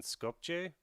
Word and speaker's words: Skopje: how to pronounce that the j the j is like uh yeah that sound they uh yeah we have it on bulgarian but they have they're using the other alphabet and uh that's why it sounds strange in english skopje but it's scorpio